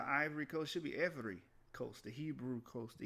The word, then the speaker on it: Ewe: EWE is not Ewi, it's ever. That's how you pronounce it.